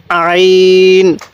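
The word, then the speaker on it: عين: এই হরফটির নাম হলো আইন আইনটা উচ্চারণের সময় আমরা গলার মধ্যে আমরা যেখানে গড়গড়া করি সেখানের মধ্যে একটু চাপ দিয়ে পড়লে আইনটা সহি উচ্চারণ হবে তাহলে আইন আইন এরপরে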